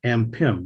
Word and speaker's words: Ampim: It's Ampim with an M on the end.